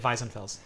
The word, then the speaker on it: Weisenfels: Weisenfels, so That's right. that's German, sorry. You really should say it Weissenfels.